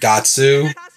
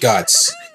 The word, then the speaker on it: Guts: yes no they never this game goes around saying guts and gatsu but it's it's pronounced guts sure whatever food anyway